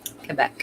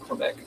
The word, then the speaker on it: Quebec: Is it Quebec? Quebec. Not Quebec. It's not Quebec.